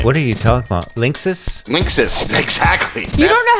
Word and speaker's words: Linksys: pronounce that company's name Jeff how do you pronounce that company's name what are you telling mom Linksys Linksys exactly you don't know how to say